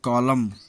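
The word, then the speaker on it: column: N silent, M के बाद आया हुआ एन प्रायः साइलेंट होता है, जैसे कॉलम, खंभा, सॉलम गंभीर, कैंडेम निंदा करना, डैम धिक्कारना।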